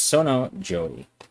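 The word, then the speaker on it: Sonnō jōi: Uh, which really makes the Sono Joy Joey happy unhappy, but I keep mispronouncing. It's Sono Joey.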